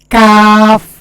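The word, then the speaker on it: كاف: তারা বরাবর উপর তার সঙ্গে লাগাইয়া মধ্যখান পেছানো কাফ কাফ কাফ এভাবে উচ্চারণ করতে হবে হ্যাঁ তারপরে হল আরেকটা হরফ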